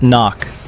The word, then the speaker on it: NOC: Nonofficial cover. Knock. Pronounced knock.